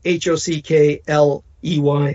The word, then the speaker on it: Hockley: post by nicole hotly her surname spelled h-o-c-k-l-e-y like hockey but it's pronounced hockley that's the mother of